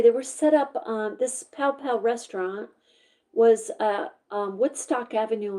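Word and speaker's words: Pao Pao: Pow Pow, P-A-O, that's how you say it, a restaurant that married the cuisines of Peru and Venezuela, sounds delicious, at 124 Woodstock Avenue in Rutland.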